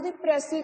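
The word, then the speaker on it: précis: Okay बेटा, so today we are going to discuss प्रेसी writing. First सब तो पहली चीज प्रेसी है वर्ड, एस जो साइलेंट होंगे आप एस प्रोनाउंस नहीं करना राइट। सो यू से प्रेसी, प्रेसी राइटिंग।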